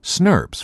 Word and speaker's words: snRNPs: complexes called small nuclear ribonucleoprotein particles or snrnps pronounced Smurf's for short as the name suggests snobs contain